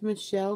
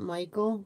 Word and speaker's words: Michelle: just want to say my name's Michelle not Michael but thank you for